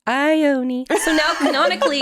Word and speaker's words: Ione: But especially in something like fantasy, when stuff is made up, they want you to pronounce names and places. And I was like, it's Ione.